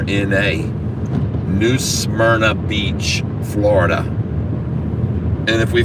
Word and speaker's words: New Smyrna: back res situated and now we're headed for new samna Beach Florida we hope to be there around